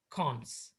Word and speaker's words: cons: by using this uh this double colon symbol which is uh pronounced as cons okay as a cons